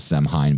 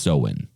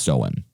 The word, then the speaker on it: Samhain: to the ancient uh celtics uh festival of samhain pronoun or which it looks like it says semhein but it's actually pronounced so in okay uh the spelling for it is s-a-m-h-a-i-n but it's pronounced so in uh the uh the celts uh who lived